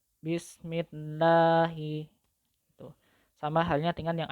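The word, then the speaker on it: بِسْمِ اللَّهِ: Nah, bismillahi. Bismillahi. Sebelum lafaz jalalah Allah itu kan ada huruf mim yang berharokat kasrah. Maka lam jalalahnya wajib dibaca tarkik. Bismillahi.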